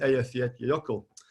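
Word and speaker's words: Eyjafjallajökull: of five different volcanoes including kepler heckler and elf yet yoko which i pronounced correctly hooray that infamous volcano which um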